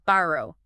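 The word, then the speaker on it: Barugh: Thankfully, yes, the pronunciation is simple. Bro, the u just makes a long ooh sound.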